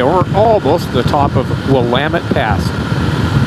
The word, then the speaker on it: Willamette: almost the top of Willamette fast see how that spell does not pronounced will of it there's a Willamette pass